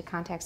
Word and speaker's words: contact: usually say that to contact somebody and note that this dress stays on the first syllable contact to contact somebody even though it's a verb so um you just